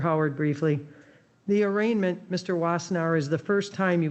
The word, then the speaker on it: Wassenaar: Is that how you say it, Wassenaar?